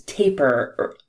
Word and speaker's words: tapir: I always called it to Pier but maybe we you use both terms today yeah I think that the official pronunciation is taper rhyming with paper but I have heard